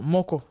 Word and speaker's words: moko: Alors, Moko. Moko. Ouais. C'est-à-dire que le premier O, je ne sais pas si tu te souviens de l'alphabet, tu as le O qui se prononce O et tu as le O.